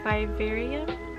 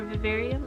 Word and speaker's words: Vivarium: to me there is bibarium or vivarium i think that's how you say it it's a psychological horror